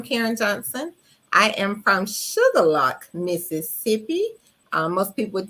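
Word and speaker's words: Shuqualak: it stated I'm Karen Johnson I am from sugarlock Mississippi um most people would think that's spelled sugar and lock but no it's not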